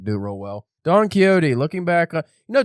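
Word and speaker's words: Quixote: it real well Don keyote looking back on you know Don keyote I think is originally spelled with an X yeah for the Q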